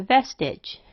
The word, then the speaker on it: vestige: It is schwed to the short I sound, and it sounds closer to vestige.